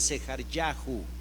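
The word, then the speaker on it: זְכַרְיָהוּ: una u para pronunciarlo En otras palabras ellos pronunciaran sejar yahu cada vez que usted vea un hombre hebreo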